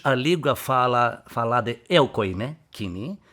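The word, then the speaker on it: κοινή: O grego popular, mas como se pronuncia koiné em grego? Aqui mais pronunciamos koiné. Koiné. Né? Koiné. É a língua grega, dialeto é koiné. E a pronúncia em grego é kini.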